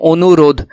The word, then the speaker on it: অনুরোধ: অনুরোধ, এটা আসলে উচ্চারণটা হলো এরকম, অনুরোধ।